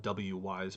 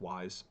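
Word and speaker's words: Wwise: right is called wise some people call it w wise but i'm pretty sure it's just pronounced wise um and like the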